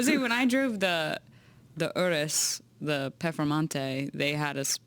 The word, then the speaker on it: Urus: when you don't- yes, because they say it like this. They say Udis. It's so beautiful. They say and we just say Urus.